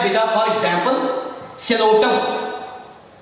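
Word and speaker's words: Psilotum: For example सिलोटम. सिलोटम पी जो है ये साइलेंट रहता है.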